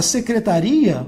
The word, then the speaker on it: secretaria: Agora, secretaria, você vai dividir isso aqui, tá? Isso aqui é um ditongo, isso aqui é um hiato. E aí a tônica vai mudar de lugar, beleza?